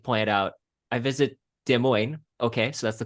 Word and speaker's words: Des Moines: I live in Des Moines. It's actually Mm-hmm. pronounced the French way. Well, then a comedian had like pointed out, I visit Des Moines.